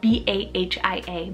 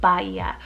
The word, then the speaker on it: Bahia: the name baya spelled b-a-h-i-a bahia or it could be pronounced bahia in english and this one means